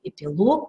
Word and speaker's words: эпилог: акцентирую внимание на этом называющие неодушевленные предметы имеют ударение на последнем слоге эпилог каталог некролог но всегда есть исключения